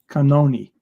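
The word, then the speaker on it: Cannone: out she sends her she pronounces her name canoni canoni canoni is there some food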